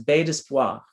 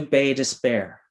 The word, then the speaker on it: Bay d'Espoir: of Newfoundland known as Bay d'Espoir, which translates as Bay of Hope. Over time, though, the Newfoundland mispronunciation has shifted Bay d'Espoir to Bay Despair. So Bay of Hope has become Bay Despair.